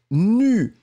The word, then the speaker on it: nue: N-U-E. On ne prononce pas le E final, mais il doit être là.